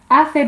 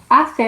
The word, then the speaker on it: hace: There's a tendency for some of us to see it written down and want to pronounce it as hace, for example, but we don't. We have that th sound there in the Spanish, so it's always hace, hace, hace sol.